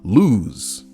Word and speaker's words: lose: Lose. I guess lose sounds like it has 2 O's.